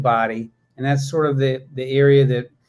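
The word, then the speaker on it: Bodie: them a body Island it's spelled like bod um but it sounds like body and that's sort of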